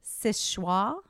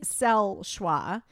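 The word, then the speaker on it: Seul Choix: of the it's pronounced sis schwa and it's spelled like Sewell TOI se ul CH o IX but it's pronounced Szechuan in the true French it's sell schwa but what it means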